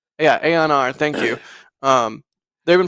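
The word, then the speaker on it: Aeon R: it Aon I don't even I'm probably gonna mispronounce yeah Aon R thank you um they've been posting a whole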